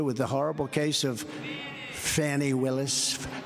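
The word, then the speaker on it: Fani: the horrible case of Fanny Willis it's it's actually pronounced fny it's f a n i but you pronounce it fonny a little French accent there f but that's a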